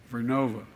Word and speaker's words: Vernova: I mispronounced it. Vernova in Florida and New York.